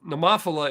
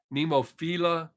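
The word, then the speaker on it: Nemophila: it the correctly says i do pronounce pneumophila is how you say flower but i was told that the band actually pronounces it nemo fila so i'm trying to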